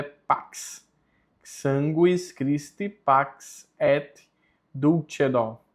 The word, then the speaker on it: pax: O X em latim tem a pronúncia de KS, por isso é pax.